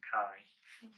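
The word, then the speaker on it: MacKaye: So this is Mai. Pronounced Mai. Looks like McKay, but it's pronounced Mai.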